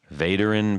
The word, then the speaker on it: Vaderin: Vaderin Pedals, that's correct. You got that right.